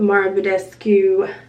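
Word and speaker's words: Mario Badescu: eye that I really like, and then the Mara Budescu, that's how you say it, the facial spray.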